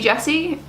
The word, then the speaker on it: Jessie: us are stressed people stressy Jessie like come on it rhymes with my name I just never knew